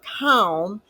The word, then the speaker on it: calm: represented by the K so if we say the word calm phonetically we would write it in an English phonetic alphabet as K middle A and M so we would spell it k-a-n even though the regular English spelling is c-a-l-m in shorthand we write what we hear so you do not hear the L so it's not written it's k-a-m and the